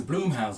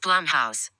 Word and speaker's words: Blumhouse: i just realized this is a bloomhouse movie it's pronounced blumhouse you dumbass they did